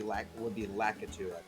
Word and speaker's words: Lakitu: Is his because the Japanese pronunciation would be Lakitu.